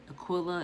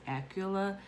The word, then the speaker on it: Aquila: This book is about the relationship between Priscilla and Aquila, or Aquila, as most of us probably say it, but in this book it's pronounced Aquila.